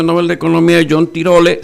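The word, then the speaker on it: Tirole: de economía yo no tiro le se escribe tiro le tal cual lo pronuncie que habla del bien común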